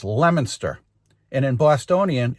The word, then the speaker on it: Leominster: folks it's Thursday the 19th I am in Lemonster mass it is if you look at it it's called it looks like it says Leo Minster that's the way it's spelled but it's pronounced Lemonster and in Bostononian it's Lemonster.